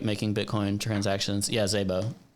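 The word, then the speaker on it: Szabo: making bitcoin transactions yeah zebo that's how you pronounce it right yeah i say sabo but i might be saying it wrong you also say it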